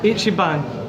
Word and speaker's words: Ichiban: Okay, so here I am, and how did you say this place was pronounced? Ichiban? Ichiban.